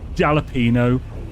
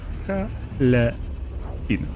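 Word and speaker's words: jalapeño: It's croissant or jalapeno. If someone says that, I want to punch them in the throat. It's jalapeno. You don't have to say jalapeno. You know, just jalapeno.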